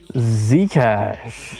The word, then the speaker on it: Zcash: Zcash.